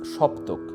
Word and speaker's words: saptak: we call that term saptak in bengali we pronounce shoptuk the term derived from